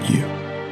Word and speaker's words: you: okay without you love there are a few possible ways to pronounce it all depending on context if we want to stress or emphasize the word we'll pronounce it in its strong form you with the long u sound it can get reduced to you you with a short uh sound or even weaker with a schwa sound yeah let's hear